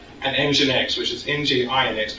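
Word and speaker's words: nginx: a short name and engine X which is NG I INX but pronounced engine X and those were the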